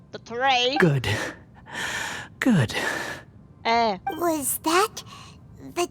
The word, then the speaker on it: Dottore: It's Dottore, not Dottore.